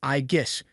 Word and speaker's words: Aegis: you say it is Aegis, with a strong emphasis on the G.